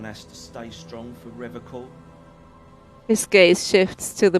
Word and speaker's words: Revachol: He pronounces Revachol with a hard K, unlike other people. Serious question time. This man is no innocent. No one is. You said Revachol? I like to pronounce it the hard way, the old way, the Vespertine way, he nods solemnly.